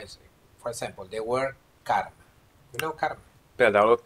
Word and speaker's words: karma: Karman. Ez a tudatlanság. Karman az eredeti szó. But because it's neuter in gender, you pronounce karma. You remove final end.